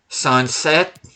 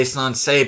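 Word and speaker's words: Sancet: Sunset. People want to say Sansei, but that's not how you pronounce his name.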